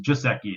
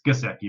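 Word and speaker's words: Gesicki: tight in my kiseki we're always pronounced it just a key it's gazecki right I don't know if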